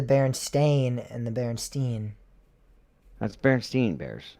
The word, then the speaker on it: Berenstain: That's Berenstain Bears. Correct. I've always said Steen. But Except it's not Steen. I know it's Stain.